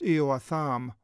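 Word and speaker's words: Ἰωαθάμ: It begins, Jotham was a son, Eoatham, in the Greek is how it's pronounced, Eoatham.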